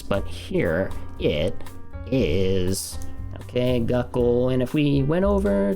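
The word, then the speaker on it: 学校: It's not poki, it's poki. And this is gakkou. Not gakkou, right? Gakkou, right? School.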